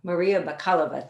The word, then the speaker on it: Maria Bakalova: the honors yes please uh maria bakala kalava maria bakalova thank you so much for bringing had it